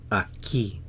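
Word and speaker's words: aquí: here a Kei here a key two syllables a key stresses on the key a ke a ke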